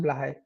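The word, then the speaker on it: Blåhaj: Did I pronounce this Blahai? Oh, yeah, it's pronounced Blahai.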